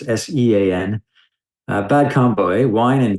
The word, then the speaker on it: Sean: And Sean is Irish, so it's Sean.